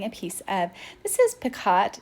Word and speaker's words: picot: And then I'm starting a piece of, this is picot, it's pronounced picot, but I want you to be able to find it.